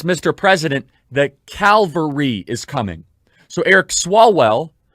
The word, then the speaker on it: Calvary: calvary to come cavalry now anyone in the christian world knows that there's a difference between calvary and calvary i sometimes without unintentionally mispronounced one or the other but i know the difference calvary c-a-l cavalry one is where christ was